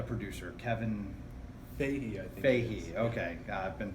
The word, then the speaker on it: Feige: Feige, okay. I've been pronouncing it wrong to myself all I've day.